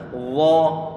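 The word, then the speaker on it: الله: bacaan Mad Thobi'i kemudian pengucapan yang Allah dia adalah tebal makanya ujung lidah ditempelkan ujung Geisha di bagian atas Allah ini Allah tebal berarti Allah jangan sampai lupa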